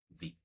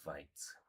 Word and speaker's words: Vite: Not Vite. What is Vite? Pronounced as V-E-E-T.